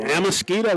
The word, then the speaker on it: Amasquita: Amakita. How you say it, Amakita? Sweep left. To the 8-yard line. Amasquita with the carry. Got that verified from the Caston folks.